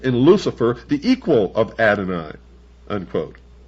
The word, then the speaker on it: Adonai: not God, would Adonai, the God of the Christians and the Jews,